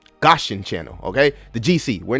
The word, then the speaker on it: Gaussian: me it's over because we're not under the gothician channel excuse me gothicson it's such a hard word to pronounce gaussian Channel okay the GC we're not under the